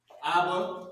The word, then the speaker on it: Abba: This is how you pronounce it. Abba, this is what it means.